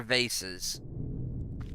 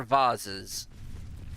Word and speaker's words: vases: and decorations, those are vases. The bigger ones that sit on the floor, those are vases. People can argue because they're both correct. both pronunciations are correct, but kind of a side chamber for maybe meditation, prayer.